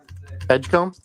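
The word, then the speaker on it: Edgecombe: Edgecom.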